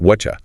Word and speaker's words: whatcha: Precisely that t plus y combination creates a chi sound. So you get whatcha.